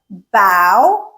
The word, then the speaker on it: bough: The fourth pronunciation is when o u g h say rhyming with cow like the animal cow. Okay. So, these would be words like bow.